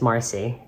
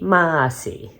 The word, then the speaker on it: Marcy: destroyed it not okay my name is Marcy m-a rcy Marcy if you live in New England my name might be Massey like m-a-h-c-y if you